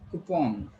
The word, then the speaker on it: coupon: It's coupon. What is it? It's coupon. There is a long U and there is O sound.